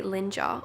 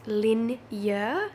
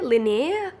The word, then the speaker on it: Linjer: My brain wants to say linger. Obviously, that's incorrect. It's pronounced linear.